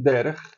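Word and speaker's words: דרך: Eretz de novo, que é o feminino, e derech, preste atenção, derech. Isso aqui é um raf. Raf, a pronúncia é mais no palato.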